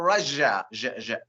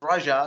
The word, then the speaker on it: Russia: is it Russia or Russia um I believe in an American the the American pronunciation is Rush Russia it's like I'm rushing to do something Russia Russia right yeah